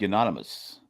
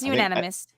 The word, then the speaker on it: unanimous: I saying unanimous wrong how are they saying unanimous it was like Anonymous no it's unanimous yeah okay I go